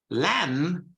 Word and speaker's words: lamb: Lamb, without the B, lamb, okay, is agnello in Italian, okay?